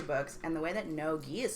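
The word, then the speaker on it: no-gi: some jiu jitsu books and the way that no g is spelled is n-o-g-i so when you look at it it just spells noogie or no noogie so i'm like what is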